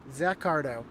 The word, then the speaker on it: Zach Cardo: So, Zach Cardo. Which is exactly how it looks.